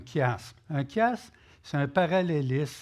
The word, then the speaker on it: chiasme: C-H se prononce comme Christ. D'accord? Donc, un chiasme.